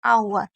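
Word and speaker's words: hour: एच शुरू होने वाले शब्द एच का उच्चारण नहीं होता। मतलब आपको मैं एक सिंपल तरीका बताती हूं। कुछ ऐसी वर्ड मीनिंग है जिसमें एच को नहीं पढ़ा जाता। अब वो कौन सी है? एक है एयर, ऑनेस्ट, ऑनर, आवर। तो ये चार ऐसी वर्ड मीनिंग है जिसमें एच को आपको नहीं पढ़ना है।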